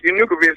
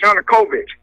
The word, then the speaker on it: Yanukovych: Lenny we're getting short your new convinced is not pronounced you nucleus is Yanukovych and ii think you've